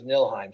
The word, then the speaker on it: Niflheim: I realized it was nilheim so it's funny there's a silent F in there but whatever it's you